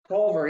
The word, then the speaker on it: Collver: Collver, yep, Collver.